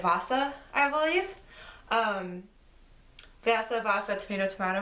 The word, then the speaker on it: Vassa: I want to pronounce it Vassa, but I received this as part of Uppercase Box, and there was a video with Sarah Porter, who's the author, and she said Vassa, I believe.